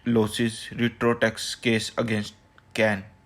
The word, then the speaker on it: Cairn: After Vodafone government losses retro tax case against कैन, जो CAIRN है ना, तो इसमें आर साइलेंट होता है तो हम इसको बोलते हैं कैन।